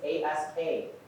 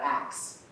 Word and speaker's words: ask: All right, that first word you see is A-S-K. How do you pronounce that? Ask, not axe.